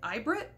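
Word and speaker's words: AIBRIT: It's the, I think you pronounce it like Ibrit, A-I-B-R-I-T.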